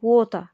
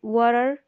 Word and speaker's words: water: بالنسبة لنطق كلمة water فهي النطق ده بريطاني water، ما بننطقش الار في الآخر. لكن لو انت حبيت تنطقها بالأمريكي فبتقول water أو water. دول نطقين ليها بالأمريكي.